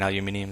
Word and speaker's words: aluminium: molten aluminum it is Aluminum they spelled isn't it yeah aluminum cuz there's an extra ey I think in aluminium the way we spell it but whatever I'll call it aluminium and look there we